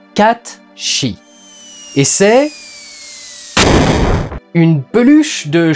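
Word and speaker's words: Cait Sith: projet les peluches kachiwiss alors ça s'écrit comme ça mais c'est hollande est donc c'est comme pour sur charles dan les lettres c'est pour faire joli et en vérité ça se prononce catchy et c'est une peluche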